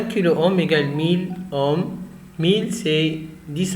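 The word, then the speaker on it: Ω: Donc ce symbole s'appelle oméga. On va le prononcer ohm. Donc quelques multiples de l'ohm. Le kilo-ohm s'écrit K oméga et se prononce, se lit kilo-ohm. 1 kilo-ohm égale 1000 ohms.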